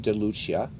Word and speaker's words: DeLucia: Ratings wise, we've got Rich DeLucia, which is how you say it in Italian, because he is Italian.